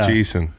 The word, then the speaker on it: Eisen: you can check out uh Richard am I pronouncing that correctly Rich Jesus is that right yeah like Jacob Jacob yeah it's Rich Eason all right that's right so what's what network